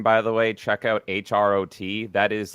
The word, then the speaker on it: Hrot: if Quake is your game, by the way, check out HROT. That is like Hrot. it's similar to Dusk. Oh, sorry, did I say it wrong? I just called It's Hrot. It's Czech. just call- It's Czech.